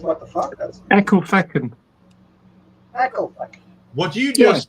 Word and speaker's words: Ecclefechan: Jamesy Boy says, see if Marcus can pronounce this place. What the fuck? Ecclefechan. Say again? It's called what the fuck? That's Ecclefechan.